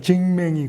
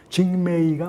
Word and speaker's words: 징매이: 이게 사람들은 뭐 징매이 발음이 이상하게 징맹이 고개 무슨 뭐 이렇게 하는데 징매이가 맞죠.